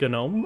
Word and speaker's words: gnome: actually say that uh well the g is silent like gnome okay the g